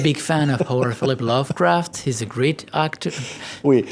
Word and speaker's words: Lovecraft: C'est pas l'Overcraft. Overcraft, c'est un avion qui vole avec au-dessus de l'eau. Lovecraft. Lovecraft.